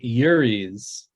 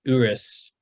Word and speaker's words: Urus: I always pronounce it Uris, but he thought it wouldn't translate. It is Urus, like OO-RIS.